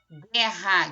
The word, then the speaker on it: guerra: vou ter te fonemas guerra guerra eu não pronuncie o então aqui eu tenho